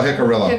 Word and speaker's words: Jicarilla: Oh, Jicarilla.